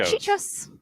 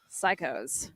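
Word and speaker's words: Cichosz: I as I also had was Trevor not chichas not chichas psychos one year Trevor psychoso coach Trevor psychos has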